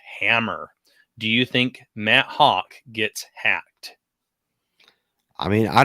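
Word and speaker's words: Hauschka: Hawk, Matt, yeah, Hawk is yeah. I've always said I always get it mixed up and want to say Hack, but it's pronounced Hawk.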